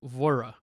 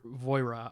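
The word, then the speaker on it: Voirrey: probably say like voir it's manx which is like the local people's language i think so it but voi voira i believe now this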